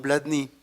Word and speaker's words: Blatný: Black Nico ni griega pero nosotros no tenemos el acento en la y su apellido tiene como bueno se alcanza a ver pero Iván vladni con acento en la